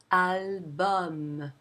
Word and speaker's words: album: For example, or it is also heard in some borrowed words with the um pronunciation. For example, in album or maximum.